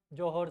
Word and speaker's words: Johor: अच्छा, है जोहर स्ट्रेट. जोहर कहीं जगह स्पेलिंग मिलेगी JOHR, जोहर स्ट्रेट.